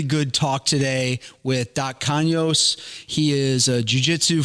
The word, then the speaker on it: Canos: both how's your name supposed to be pronounced kanyos kanyos oh that's pretty good yeah i just know